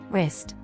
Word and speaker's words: wrist: silent W the letter W is silent in some words particularly when the letter R follows the letter W Rak ring wrinkle wrap